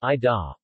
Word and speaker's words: iya: Iya is pronounced I da.